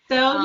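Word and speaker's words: Ess: out her shop because she has she's got a lot of options so i've got the next one here is the s shawl it's spelled e-s-s um but when this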